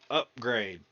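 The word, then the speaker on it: Upgrayedd: upgrade and it is it's spelled u p g r a y d d upgrade and they they have to say it like that too they always call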